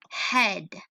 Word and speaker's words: head: to keep in mind so EA gets a little tricky because although it makes that long e sound it might also make a short e sound - this here's a mistake so for example here I have edy head notice EA is there but it's not saying e it's saying a which is the short e